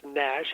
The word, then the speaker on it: NASH: It's pronounced NASH, N-A-S-H, and it turns out